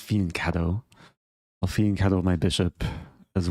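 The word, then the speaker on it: fianchetto: Maybe I'll I don't know why I said fiancto. It's pronounced fianto.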